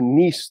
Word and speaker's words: Nice: into our previous Theory which was called the nce theory although it's spelled nice it's from France um into the nce